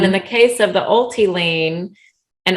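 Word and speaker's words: owelty: the case of the ulti lean and ulti is spelled o w l t y right it's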